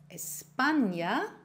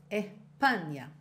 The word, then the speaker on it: España: Einer der Gründe ist der Buchstabe S. Der wird nämlich von vielen in gewissen Wörtern nicht ausgesprochen. Und so ein einfaches Wort wie España ist dann nicht wiederzuerkennen. España.